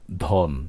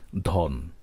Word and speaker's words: ধন: অর্থে যখন আমরা বলি ধন সেটি ধন থাকবে ওকারের মত উচ্চারিত হবে না ধন এটি ব্যতিক্রম তবে এসব